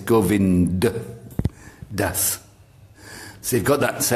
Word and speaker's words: Govind Das: So onto you, glorious Govinda Das. Govind Das. It's not Govinda, it's Govind Das.